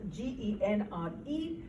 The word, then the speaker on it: genre: genre of genre is the fancy french word genre it's written as g-e-n-r-e which means kind or type but pronounced as genre this is the genre